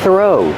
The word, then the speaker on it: throw: Throw. The th makes a voiceless sound. Just air. Thorough. Link the sound to the R. Thorough. Not throw. Throw.